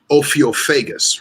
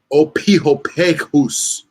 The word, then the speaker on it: Ophiophagus: So it's Ophiophagus, right? but it's not. There is no f sound. It's ph. It's p. So it's like opihophagus.